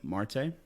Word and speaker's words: Marte: today I have Marte did I pronounce it right yep correct Marte uh it's been pronounced